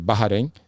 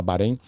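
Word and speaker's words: Bahrain: E aí eu fui pro mercado eh de Barrarém, né, na pronúncia local lá, o pessoal aqui no Brasil o pessoal fala Barém.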